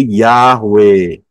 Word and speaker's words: Yahweh: bukan bahasa kalau Saud Lihat tulisannya adalah Yod he wau he itu tulisannya sebelah kiri bacanya dari kanan ya ingat bacanya dari kanan Yod itu yang cuman kayak koma di atas Yod he wau he ya supaya gampang kita dengarnya dengan aksara alfabet Ya mengucapnya jelas yaitu yahwe karena hurufnya adalah Yod